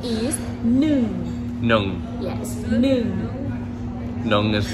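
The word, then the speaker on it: หนึ่ง: And 1 is nung.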